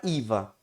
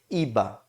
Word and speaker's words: IVA: A palavra IVA, pode ser traduzida como, aí no caso, pessoal, o som de V, lembrem que em espanhol tem som de B, ok? Então por isso eu pronuncio IVA, el IVA.